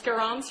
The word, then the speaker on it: Garance: Did I get the pronunciation of your name correct? It's Garance.